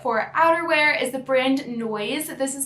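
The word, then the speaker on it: Noize: The first BOLO brand that I want to mention today for outerwear is the brand Noise. This is spelled N-O-I-Z-E.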